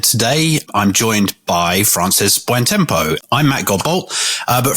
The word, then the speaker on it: Buontempo: It's Italian, so you get Did I pronounce it wrong? It's close. I think it's Buontempo, but my family's always ignored me.